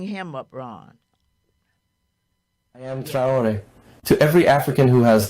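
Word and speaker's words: Traoré: Abraham Traore. My son out there in California, Walter, said, Mom, please say his name correctly. Also, I'm trying hard. Abraham Traore.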